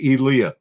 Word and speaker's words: Elia: Eli Elia it's Elliott how do you say his name actually you say Elia Elia okay you hit the